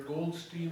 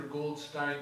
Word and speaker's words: Goldstein: That's a name that can be pronounced either Goldstein or Goldstein, depending on whether you prefer the German pronunciation or the American pronunciation, but they're both used.